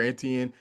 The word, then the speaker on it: Etienne: I mean, Trevor Antien, you said it right, Travis, I get him now that his brother stepped into the scene enough to trip me up.